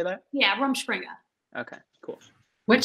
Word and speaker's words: Rumspringa: Yeah, Rumspringa.